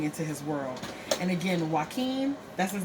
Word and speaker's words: Joaquin: And again, Joaquin, that's his name, right? Is that how you pronounce it? Yeah. Mm-hmm. Joaquin.